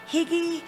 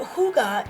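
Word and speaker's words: hygge: of people are like how do you pronounce that is that higgy what's going on but hyuga is actually the Danish art of creating joy and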